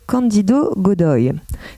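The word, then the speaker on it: Cândido Godói: Donc on est à l'extrême sud du Brésil et en plus plus particulièrement dans le village de Candido Godoy. Ça, j'ai vérifié, c'est comme ça que ça se prononce.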